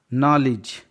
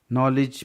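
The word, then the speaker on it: knowledge: नॉलेज, KNO, नॉलेज मतलब ज्ञान, के के बाद N है तो के साइलेंट है।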